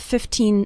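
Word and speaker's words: fifteen: 15 minutes a day remember to pronounce the second syllable of 15 nice and strong 15 not like 50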